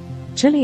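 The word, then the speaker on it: Chili: name pronunciations up there Chile is pronounced with both eyes long Chile aan on the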